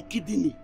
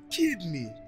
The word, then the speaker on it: kidney: if me say my kidy mad I don't give her do who help what kidy kidy you see good pronunciation you cannot give kidney kidney say kidney in case you don't know